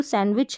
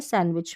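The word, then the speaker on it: sandwich: तो यहाँ पर देखेंगे जो सैंडविच है, यहाँ पर जो डी रह रहा है ये साइलेंट रहता है सैंडविच में, ये याद रखिए आप।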